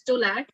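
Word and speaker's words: TOLAC: call it was a v-back and t-o-l-a-c we pronounce it as stolat that is trial of labor after cesarean section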